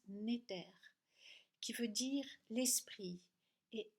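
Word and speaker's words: netr: la définition, cela vient du mot Égypte N-E-T-R qui se prononce Néter, qui veut dire l'esprit, et al qui veut dire lié à, venant de.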